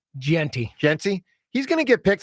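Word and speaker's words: Jeanty: Gentry? Genty.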